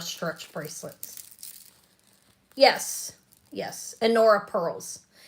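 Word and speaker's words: Honora: Um, these are Anora stretch bracelets. Yes. Yes. Anora pearls. H O N R O. H O N O R A. It's the H is silent. Anora pearls.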